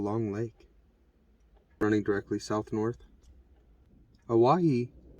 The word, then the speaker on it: Owyhee: Owyhee was the original pronunciation of Hawaii before Hawaii became a territory of the United States of America.